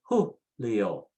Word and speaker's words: Julio: The next one is J-U, and the H is, the J is H sound. So you say Julio, Julio.